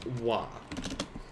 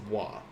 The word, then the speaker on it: は: this in this case this is pronounced as wah even though it is written as ha using the hiragana for ha we're always going to pronounce it as wah and this particle is